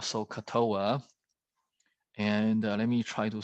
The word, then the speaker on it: SOHCAHTOA: And so basically, you will say that SOHCAHTOA. So it's a 9-letter word. And so, ka means sound like coughing, and toa.